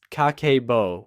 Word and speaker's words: Kakeibo: She published the first Kakeibo, just pronounced Kakeibo, which translates literally to household account book, through a magazine she'd founded called Katei no Tomo, or Friend of the Home.